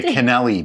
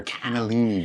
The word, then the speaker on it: cannellini: always say it wrong she always likes to say canelli beans and i'm like no they're cannellini beans but yeah they would